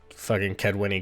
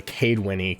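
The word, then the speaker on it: Kaedweni: the ked winnie king uh i'm sorry uh we got to pronounce it the way they say it uh the cadewinny king because that is a way you say kedwin now whatever he sends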